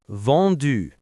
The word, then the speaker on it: vendu: So vendre becomes vendu.